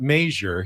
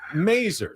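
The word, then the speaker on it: Masur: There was Andy Mazer, who was the Padres broadcaster, but he didn't pronounce it Major. He pronounced it Mazer.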